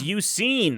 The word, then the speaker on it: Suicune: And then some random other guy is like, or Suicune. It's Suicine.